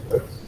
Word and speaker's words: Peirce: Peirce, Charles Santiago Sanders Peirce, que es como se pronuncia, Peirce, y a Ferdinand de